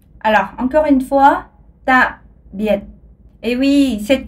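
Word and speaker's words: tạm biệt: vietnamien, vous pouvez dire ta biệt. Alors, encore une fois, ta biệt. Et oui, cette prononciation est beaucoup plus provocante. Alors, essayez de dire les mots un peu lourdement, puisque vous savez, disons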